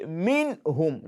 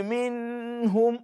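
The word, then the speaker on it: مِنْهُمْ: You say minhum. Don't say minhum. No. When you say min, the moment you are taking your time on the nun sākinah, then you are not manifesting it again. You are assimilating it into another letter. And that will be wrong.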